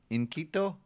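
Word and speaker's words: inquieto: segment that we're going to start doing it's inconito yeah i-n-q-u-i-e-t-o you say it logan in quito and quiet in quiet yeah so we're right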